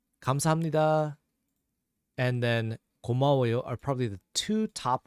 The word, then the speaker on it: 고마워요: The next one we have here, 고마워요, which is 고, 마, 워, 요. 고, 마, 워, 요. 고, 마, So again, a little faster, that's 고마워요. 고마워요.